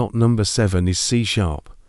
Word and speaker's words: C#: Number seven is c#, pronounced c#.